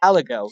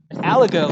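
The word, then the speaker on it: aligot: no lie no lie al ago it's French to the T is silent al ago it's like no lie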